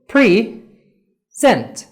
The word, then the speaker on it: present: present تقدر تستريس على P present تبقى هدية، لو stressed أو اتكيت على آخر مقطع لفظي هيبقى present اللي يقدم.